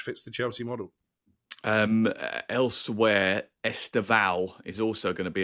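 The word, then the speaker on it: Estêvão: really sort of picky, it's Esteval rather than Esteval. Well, you teach us because you're the Portuguese expert. Well, when there's no accent over the words and there's three syllables, you go with the second one.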